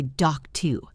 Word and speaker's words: doctor: Doctor ends in OR, but we say doc-tu. It is the same sound.